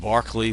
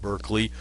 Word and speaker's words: Berkeley: Doctrine was George Barkley it's pronounced Barkley like the basketball player not Berkeley although Berkeley California is